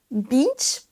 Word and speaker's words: beach: Attention pour ce mot également, parce que si vous faites un I court et que vous dites bitch, là vous prononcez une insulte également. Beach, la plage, et bitch.